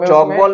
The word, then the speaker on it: Tchoukball: Maharashtra player में हमारा, तो चौक बॉल में टी साइलेंस होता है, टी साइलेंट रहता है, बाकी सेंटेंस पूरा ही